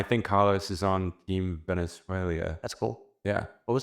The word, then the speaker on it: Venezuela: You're adding an Venezuela. I at the end. Is he serious? He's serious. Venezuela. Maybe that's Venezuela. British. Is that Venezuela. British? No. There's no I.